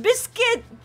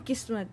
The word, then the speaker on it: Kismet: My name is not Biscuit. It's not Biscuit. No, I was saying. It's Kismet.